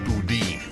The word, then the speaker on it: Boudin: friend I Call On You this is it's pronounced boudin person who was recalled in San Francisco the